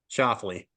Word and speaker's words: Schauffele: Shoffley. Shoffley. Okay, I couldn't figure that out. All right, so congrats, Xander Schauffele.